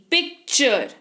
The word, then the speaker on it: picture: उदाहरण के तौर पर PICTURE, पिक्चर, पिक्चर यानी कि चित्र, है ना, पिक्चर। तो यहां पर देखिए टी के बाद URE है, सिंपल है, च उच्चारण होगा, पिक्चर पढ़ लिया।